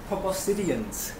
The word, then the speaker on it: proboscideans: So, proboscideans is carefully pronounced that way. So within that word, you can probably sound out the word proboscis.